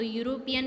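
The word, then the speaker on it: European: तो यूरोपियन में देखो य का साउंड आ रहा है, वैसे ये वोवेल है ना फर्स्ट लेटर, पर साउंड किसका आ रहा है यू का. ई इसमें साइलेंट है तो इसमें ए आएगा, य का साउंड आ रहा है ना इसलिए.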